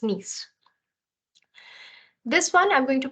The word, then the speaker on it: Nice: Nice. The I is the sound of E in French, so it's Nice.